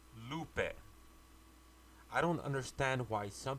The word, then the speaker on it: Lupe: lupa s belt l u p and it's pronounced Lupin I don't understand why some people always want to put a Y at the end of my name and call me loopy I tell them that yes I'm a little